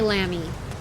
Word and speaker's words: lamb: Lamb is you don't pronounce the B in lamb.